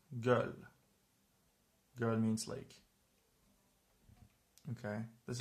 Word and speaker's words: göl: Let's pronounce it. Özge. Özge. Özge is a name. Or this word, it's göl.